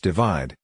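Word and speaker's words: ÷: album worldwide of 2015 shirin's third album / pronounced divide was released in March 2017 the album debuted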